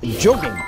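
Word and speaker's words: jogging: 영국 사람들은 조깅 이렇게 하고 미국 사람들은 자깅 이렇게 해요.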